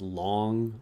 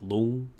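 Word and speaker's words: Loong: Red Loon. Uh, and by the way, there should be like a tone in there, but and it's not pronounced long or loon, but it's kind of like long.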